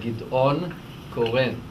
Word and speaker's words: Gideon Koren: His name in the Hebrew pronunciation is Gideon Koren.